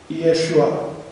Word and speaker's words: Иешуа: Там читается как «Ишуа». Второе «и» может возникнуть только при огласовке, но огласовки неправильные, когда «э» будет произнесено как «и», потому что по-еврейски это будет «и-э-шуа». Иешуа.